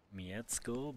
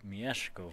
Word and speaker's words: Mieszko: me aware of that it's not Miecko but Mieszko for Trotsky, for example.